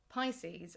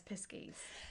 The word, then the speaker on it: Pisces: I'm raised My mum, the other night, we had dinner, and she pronounced Pisces as Piskies.